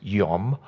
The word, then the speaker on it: yom: day in the hebrew word for day is pronounced yom it's a hebrew word for day he said